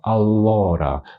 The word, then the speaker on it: allora: Вимова алора. Наголос на букву о.